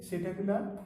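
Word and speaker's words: Psittacula: Then there is a Cetacula, here P is silent, this is for parrot.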